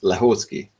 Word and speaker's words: Lehóczky: what's your last name it's husky super simple wow that's very hard